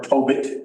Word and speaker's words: Tobit: Tobit, or Tobit, as some pronounce it, and Judith.